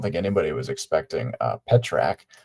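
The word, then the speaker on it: Pitrzak: First of all, I don't think anyone was pronouncing his name to be pronounced that way. Uh, P I T R Z A K. I was going with um Peter Zack, which sounds like two people, Peter and Zach.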